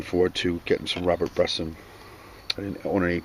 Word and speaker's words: Bresson: uh that's all right i think it's robert bresson now that i think about it since it's french but anyway uh here's